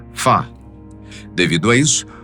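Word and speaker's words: 发: na cultura chinesa pois a sua pronúncia ba é semelhante à palavra riqueza ou Prosperidade que se diz fa devido a isso o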